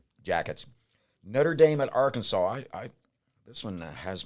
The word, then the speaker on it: Arkansas: Arkansas. That S is silent, correct? Yes, that S is silent.